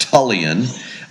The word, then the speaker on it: Tullian: name is tulan uh it's a mouthful um the is after my maternal grandfather my mom's dad uh tulan it's pronounced tulan uh is after the